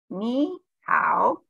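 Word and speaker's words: 你好: It's like your knee, but we have to say it. Knee. And then it's like the word how, but we have to say how. So it's knee, how.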